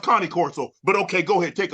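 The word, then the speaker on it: Cane Corso: where it originate from the Kango the the K Corso it's it's pronounced Connie Corso but okay go ahead take off I I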